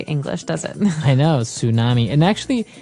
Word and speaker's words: tsunami: I know, tsunami. And actually, if you see the spelling, it's with a T, T-S.